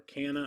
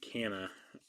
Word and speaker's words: Canha: was watching them on ESPN last night and they said Canna, and I had heard Canal elsewhere, so I'm going to go with Canna. I would assume ESPN announcers are going to know the proper way to say Canna's name.